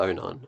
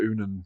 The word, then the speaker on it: Onan: Onan, okay? So... I just keep making sure I'm going to pronounce that properly, because I keep wanting to say Dr. Unan. No, Onan.